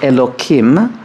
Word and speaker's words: Elokim: terms of the word eloquim which I pronounced with a K not a hey her because that's another